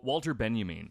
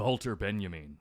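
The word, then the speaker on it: Walter Benjamin: going to be so Walter Ben you mean or the halter Ben you mean because I'm pronouncing one name in German and one in English for some reason because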